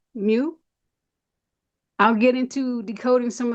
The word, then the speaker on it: mu: is the letter M the Greek pronunciation is Mu I'll get into decoding